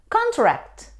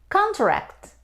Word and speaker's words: contract: you present your friend contract contract it's a noun means a formal agreement for example I was on a two-year contract that expired last week but when we stress on the second syllable we say contract contract means to decrease